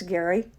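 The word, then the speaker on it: Gery: It's Gary. It's It's spelled Jerry, but it's pronounced Gary.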